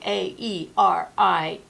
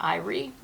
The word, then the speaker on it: aerie: saw the word Aerie, A-E-R-I-E. And that's the way I've always pronounced it. I've heard John pronouncing it Aerie. Dictionary says you can do it either way.